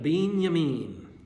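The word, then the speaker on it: בנימין: Benjamin in Hebrew was literally pronounced beyamin because they didn't have a J.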